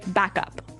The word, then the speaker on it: backup: point out that here the pronunciation and stress of this phrase is really important hey yes yes you have to say backup Backup backup yeah so both words are stressed at about the same level hey m mhm backup